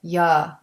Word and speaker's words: you: And for reduction, the word you is not pronounced with a clear oo sound. We pronounce it ya.